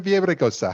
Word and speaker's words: Villaraigosa: election and we're here in la with aaron viejosa how are you erin i'm well matt thank